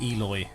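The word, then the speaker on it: Eloi: sighted and enslaved in a place pronounced eloy yeah like the eli because that's what they call them in the movie i don't know how you would pronounce it in the book or if they even feature in the book because i haven't read it but um the movie they call them the eloy okay like the eulogy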